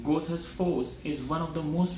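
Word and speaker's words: Goðafoss: Godafoss. Godafoss, more accurately pronounced Gothas Foss, is one of the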